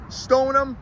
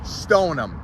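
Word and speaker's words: Stoneham: let's get this changed let's spell it the way we pronounce it stonum as some of you may know if you don't you know now is also known as Sho toown Stone them let's get it right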